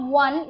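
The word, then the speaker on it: -one: used with ketone is o and e this is not one it will be pronounced as on now you see that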